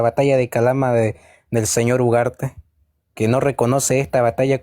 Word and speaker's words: Ugarte: Pero bueno, aquí el magíster puede educarlo al señor Burriarte. Y si él no quiere que yo le diga así, entonces que pronuncie bien el apellido. No, Jorge no, no, no, Ugarte.